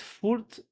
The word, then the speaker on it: voelt: Dit voelt. The V is F.